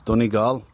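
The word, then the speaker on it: Donegal: This is how you say it in a Dublin accent. It's Dunig. We never say how it's spelled.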